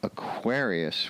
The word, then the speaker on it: Aquarius: But Aquarius, going from Aquarius, where the accent is on the second syllable, to the Aquariids, accent on the first syllable, that's a little bit of a jump.